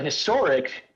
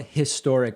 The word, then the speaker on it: historic: now going to interrupt the thing about historic is there are some words where when pronounced in isolation they have a very clear consonant sound like if i just say historic but historic has a relatively soft h when in context and that is why my